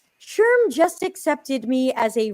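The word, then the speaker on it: SHRM: got an email from how do you pronounce these guys s-h-r-m I always want to say true but I know that's not right Sherm just accepted me as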